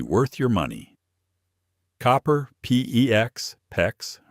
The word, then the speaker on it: PEX: Copper, PEX, PEX, rhymes with flex, or CPVC, CPVC.